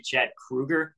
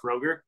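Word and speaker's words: Kroeger: You know, his name's actually Chad Kruger, not Kroger.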